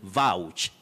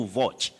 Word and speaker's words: vouch: word you say hyena you say vouch to vouch for somebody or vouch for something don't say to watch and we also say